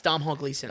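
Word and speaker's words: Domhnall Gleeson: Yeah, it's Dom Hall Gleason.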